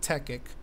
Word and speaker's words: Tekkit: server a techic server which is spelled differently it might sound like technique but it's called techic now what this is